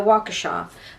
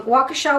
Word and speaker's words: Waukesha: to say this it's in the yeah the Waukesha um Waukesha Wisconsin at the Waukesha Christmas parade but it